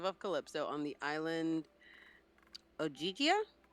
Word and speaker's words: Ogygia: Okay, so in the course of Odysseus' 7 years as captive of Calypso on the island Ogygia, Yes. is that how you pronounce it? Mhm.